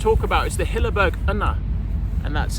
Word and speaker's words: Unna: Okay, so the final one that I'm going to talk about is the Hilleberg Unna, and that's how you pronounce it because I looked online, and it